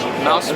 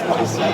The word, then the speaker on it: MOSFET: Is it MOSFET? Mouse. Mousefet? There's a little mouse inside there. Is it Mousefet, really? No, it's MOSFET.